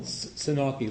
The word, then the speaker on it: Senauke: Senauke, like Milwaukee.